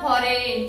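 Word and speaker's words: foreign: एफ ओ आर इ आय जी एन काय spelling आहे एफ ओ आर इ आय जी एन परंतु जी चा उच्चार करायचा नाहीये. फॉरेन म्हणायचं फक्त काय म्हणायचं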